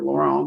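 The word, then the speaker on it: Laurent: problem with jason and abby lawrence or laurel or you want to pronounce it i call her lauren but you know and that's what i do too yeah good it's the french l-a-u-r-e-n-t yeah but anyway abby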